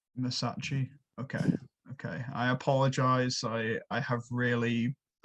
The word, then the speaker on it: Massachi: How do you It's pronounce like Versace, but Massachi. Massachi?